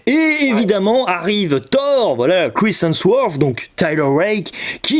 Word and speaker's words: Chris Hemsworth: Entre d'un côté, on a l'acteur qui joue Thor, hein, voilà, Chris Hemsworth, c'est bien prononcé ou c'est une catastrophe?